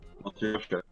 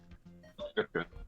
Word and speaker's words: Matryoshka: I think you got it right. It's like Matryoshka. Matryoshka.